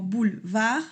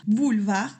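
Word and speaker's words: boulevard: de dos sílabas, como bulvag, bulvag como boulevar, pero no se pronuncia la e sería bulvag.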